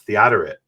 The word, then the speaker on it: Theodoret: And he says, no, that's Theodoret. I always called him Theodoret because I don't know how it's pronounced. At least in English, they say Theodoret.